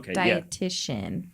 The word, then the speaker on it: dietitian: mm-hmm diet TI yo dietitian you just pronounced a see that isn't there mm-hmm so nutritionists don't